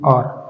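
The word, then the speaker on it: hour: से अपने देखते हैं इसको बोला जाएगा आर क्या बोलेंगे आ तो इसकी जो प्रोनंसिएशन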